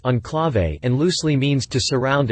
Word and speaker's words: Enclave: as a 2008 model the name is pronounced on clave and loosely means to